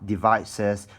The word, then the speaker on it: devices: And for this 2 syllable word, you have devices. The stress is on the syllable vice, okay?